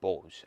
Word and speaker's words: Bosz: And their head coach is former Dortmund trainer Peter Bosz. I think that's how you say it, B-O-S-Z.